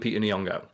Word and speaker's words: Lupita Nyong'o: actors, like someone like Lupita Nyong'o, where they'll act like it's really difficult to pronounce. Like, just say every letter.